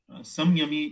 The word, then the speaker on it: संयमी: देखिए, ये जो जीवन प्रभु ने बोला है संयमी, संयमी, इस तरह से इसका उच्चारण किया उन्होंने।